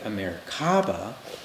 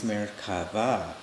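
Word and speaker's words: מרכבה: his texan accent way americaba but the real pronunciation in hebrew is merkava the hebrew root is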